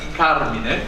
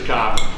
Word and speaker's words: Carmine: Father Dennis is probably the only one that pronounces my name as the way it should be pronounced, but everybody knows me as Carmine. But the Carmine is the Italian name, is 100% correct.